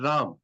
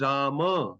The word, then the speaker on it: Rama: So like Ram, they call it Ram. Though in Sanskrit it is Rama, not Ram.